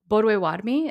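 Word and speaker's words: Bodéwadmi: is the correct even though anglicized way to pronounce that name of that tribe boduewadmi is how we would how it would be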